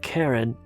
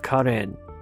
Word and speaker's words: Karen: It's not Karen, but Karen. There is no Karen in Armenian, so it's only Karen.